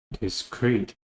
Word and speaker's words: discrete: is free this is discrete again the stress is also on the second syllable but the difference is